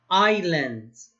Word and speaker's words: islands: you're smart islands see we don't pronounce the s this is we don't